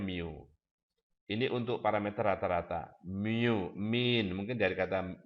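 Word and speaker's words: μ: Nah, misalnya, mu, ini bacanya mu.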